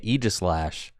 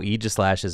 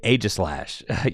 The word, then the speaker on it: Aegislash: Now, if you chatters in the chat think that I'm mispronouncing Aegislash when I say Aegislash, I have some bad news for you. That is exactly how Aegislash's name is pronounced.